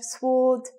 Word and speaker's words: sword: Sword, silent letter.